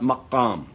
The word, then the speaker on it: maqam: And they call that maqam. And the Persians, they pronounce it magham. And the Azerbaijanis, they pronounce it Mugham. Okay? So from the Arabic maqam to the Persian magham to the Azerbaijani Mugham, it's a very connected, related tradition.